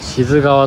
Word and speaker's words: 清水川: が流れてます清水川と書いて志津川と読むそうですね優先堂から